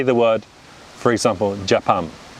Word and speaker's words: Japan: same sound pronounced consecutively whereas british people would say japan right so notice how i've unstressed the first syllable and i stress the second syllable so japan becomes japan right so that british